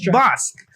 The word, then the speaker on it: Bosc: you had a troika John nice okay Tomas Bosque yes so amazing amazing website I was blown